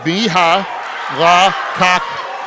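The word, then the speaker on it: Mihalakakos: He says, Coach, you say it just like you do. It's me, ha, la, kak, kos. He said it's like you're almost saying each syllable.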